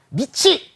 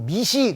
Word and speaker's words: 밑이: 미치 읽는 방법은 미티가 아니라 이 발음일 때는 치옥 발음으로 바꿔. 미치 이렇게 읽는 거예요. 그거 말고는 다 티읍 발음이 뒤로 들어가요. 별거를 다 설명하네요. 정말. 미치 따라해봐.